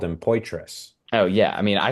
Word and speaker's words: Poitras: And so the Maryland guy goes and she tells him, she's like, it's Poitras, Adam Poitras. And he's like, Poitras? Okay. And I'm like, wait, Poitras? Like it's not Patra? She's like, no, it's Poitras.